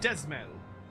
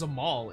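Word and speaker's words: Dzemael: the affairs of House Desmel. Actually, it's Zamal, isn't it? I just realized that I just remembered the D is silent.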